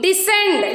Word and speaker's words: descend: C is silent after the S. So here, signs. C comes after the S. And in scent also C comes after the S. Next, seen, descend, descending order, ascending order we will say.